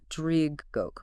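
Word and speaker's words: Draig Goch: It's roughly pronounced Dridgok.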